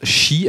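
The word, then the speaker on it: 四: Non, tout simplement parce qu'il se prononce shi, alors S-H-I, tout comme le mot mort en japonais.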